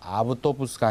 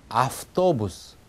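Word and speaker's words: автобус: 그대로 쓰여있는 대로 읽자면은 아우토부스인데 잘 보시면 T 앞에, 때 앞에 왜가 있습니다. 트는 무성음, 그 앞에 있는 v는 유성음이거든요. 트가 v를 무성음 형태인 f로 끌고 갑니다. 그래서 아우토부스가 아니라 아프토부스 이렇게 v를 F 쪽으로 소리를 끌고 간다는 얘기입니다.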